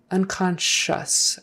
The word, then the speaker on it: unconscious: or unconscious unconscious un that sc i is an sh kind of a thing oh you becomes like a short you unconscious as if it were spelled s-h-u-s on the end it's unconscious unconscious accent is on the second syllable unconscious urine sample lovely